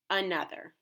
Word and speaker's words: another: Another is a trap word because it has two schwa sounds, each spelled with a different letter. The first one is at the beginning of the word and spelled with an A, like we had just learned, and the second schwa sound is spelled with an O. Those two different spellings for the schwa sound make this word one that we can identify as a trap.